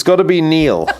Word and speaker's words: Niall: the people who say kneel which is right and the people who say Nile which is wrong and the Nile comes from the Irish mispronunciation of the Gaelic language or Gaelic language throwing